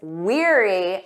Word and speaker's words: weary: She was weary after her long trip. Did you get that right? Let's review this confusing word pair. We have weary. Listen to that pronunciation. Eerie, like ear. Weary.